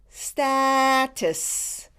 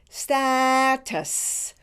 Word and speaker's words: status: status you do it status notice that when you pronounce the second syllable you put the T with the second syllable so it is pronounced tuss with a short vowel you like in the